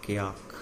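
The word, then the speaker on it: kayak: ये जो नाव यूज करते हैं, लेदर की बनी हुई नाव यूज करते हैं, उसको क्या बोलते हैं, क्याक। दोनों में से जो मर्जी स्पेलिंग यूज कर लेना, क्याक बोला जाता है उसको, ठीक है।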